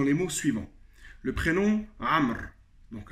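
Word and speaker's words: عمرو: C'est pour ça que dans certains pays, on peut entendre Amrou. Amrou. Donc voilà, il s'écrit Amrou, mais il se prononce Amr.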